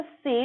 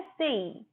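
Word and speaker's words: say: इसको से नहीं बोलते, इसकी सही प्रोनाउंसिएशन है सेई।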